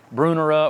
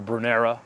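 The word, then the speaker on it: Brunnera: great to use uh bruner brunera or brunera a lot of people pronounce that two different ways um ferns for sure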